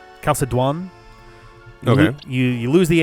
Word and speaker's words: Chalcédoine: There is a French name for this that's very similar to Chalcédoine. Chalcédoine.